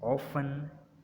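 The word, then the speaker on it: often: टी इज़ not pronounced in these common words. इनमें हम जो है वो लफ्ज़ों में हम टी को प्रोनाउंस नहीं करते। मसलन फैशन, लिसन, ऑफन, थिसिल और विसिल, यहाँ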